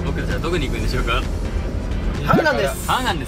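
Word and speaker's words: 한강: - Han River - We're going to Han River Hangang, hanger Hanger!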